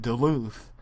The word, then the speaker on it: Duluth: Yes, that's how you say it, Duluth, because WCW actually had previously run shows in Duluth, and possibly even Ring of Honor has as well.